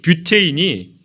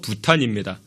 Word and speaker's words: 부탄: 그 영어식 표현으로 이 뷰테인이 독일식 발음으로 부탄입니다.